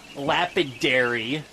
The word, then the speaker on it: Lapidary: You can see it actually says that it's the Lapidary. That's the building we were in earlier. I was mispronouncing it.